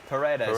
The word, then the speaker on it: Paredes: I mean, how do you pronounce it? Paredes.